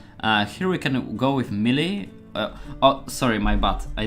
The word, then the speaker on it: melee: I learned that this is melee, not melee.